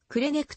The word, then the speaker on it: Křenek: なっていたこのため作曲者自身はくれニックという表記を退けくる j ネクという綴りとドイツ語風のくれねくという発音をよしとし自分自身も